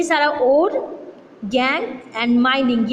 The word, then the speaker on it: gangue: ये टर्म याद रखना, जो मिनरल जो उसका इम्प्योरिटीज़ है वो गैंग कहलाता है, प्रोड्यूस्ड एज गैंग, जिसे गैंग के प्रोनाउंस किया जाता है और लिखा जाता है GANGUE।